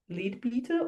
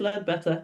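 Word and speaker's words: Leadbeater: Lead Better who you you might read it and say his name is Lebea or Leba. I've had arguments with people about how you say this guy's name. I'm going to say it's led better.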